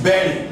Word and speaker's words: bury: This is bury, not body, is buried.